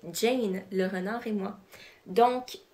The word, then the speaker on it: Jane: l renard et moi qu'on aurait tendance à prononcer comme je vient de le faire mais quand on se met à lire l'histoire on se rend compte qu'il faudrait le prononcer Jane le renard et moi